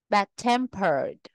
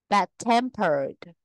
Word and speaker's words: bad-tempered: Nguyên tắc 9, tính từ ghép thường có dấu gạch ngang ở giữa, trọng âm rơi vào từ thứ hai. Bad-tempered, bad-tempered, old-fashioned, old-fashioned, one-eyed, one-eyed, well done, well done, well done, well done.